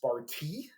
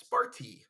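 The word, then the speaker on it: Σπάρτη: And actually, in Greece, they don't call it Sparta. It's actually pronounced Sparti. Like, you can see it right there. Oh, look at that. Perfect time. It's Sparti.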